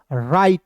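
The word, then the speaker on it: write: देखिए डब्ल्यू को सबसे पहले काट दीजिए। साइलेंट कर दीजिए। ठीक है? और आर को दोस्तों र लिखना है और आई टी ई का उच्चारण आई के रूप में करेंगे तो हो जाएगा दोस्तों राइट।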